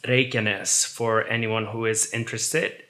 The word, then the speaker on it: Reykjanes: It's pronounced Reykjanes for anyone who is interested.